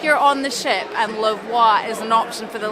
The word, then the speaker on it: La Voix: What a way to end our last night on Iona with La Voix, that's how you pronounce it, in the Limelight Club.